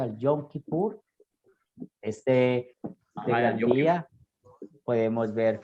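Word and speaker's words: Yom Kippur: leemos en éxodo 16 en el hebreo se pronuncia el yom kipur este la lluvia podemos ver como el sumo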